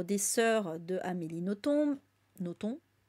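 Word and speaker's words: Nothomb: sœurs de Amélie Noton Noton qui paraît qu'il faut pas prononcer le B euh et donc oui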